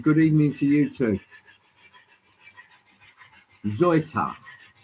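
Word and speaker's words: Seuthe: Zoita. Zoita. Yes, there you have it. It's if you pronounce it in English, it'll be Soothe. My version was Salte, but it's actually Zoita.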